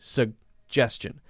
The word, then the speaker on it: suggestion: sound juju juju it's called the soft G's suggestion suggestion suggestion you don't let the first G